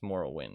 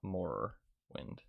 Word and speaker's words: Morrowind: I spelled it right it's moral wind it's not more wind Morrowind um then there's